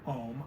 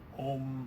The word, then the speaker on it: Om: everybody's heard the word Om either the spelling om M or a m which is again more if you've studied it more you often start encountering it as three syllables instead of two syllables um the second syllable